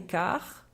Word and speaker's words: quart: est 4 heures et quart attention à la prononciation on ne prononce pas le t2 car il est 4 heures et quart il est 80 répéter